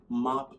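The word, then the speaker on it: MOPP: called mop gear and it's actually not spelled differently is it spelled different it is spelled differently than the mop you use to clean your home unless you live in like i don't know squalor but that word is mop this acronym is m-o-p-p and it actually you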